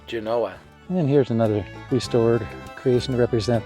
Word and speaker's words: Genoa: Genoa and Genoa but for the record the preferred pronunciation is Genoa and here's another restored